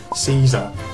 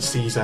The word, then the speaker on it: Caesar: So Miho visits them specifically to talk to their team commander, Caesar, or Kaiser if you want to pronounce it in a more historically accurate Roman way.